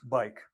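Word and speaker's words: Buyck: Its name is spelled B-U-Y-C-K, but pronounced bike, like the short form of bicycle.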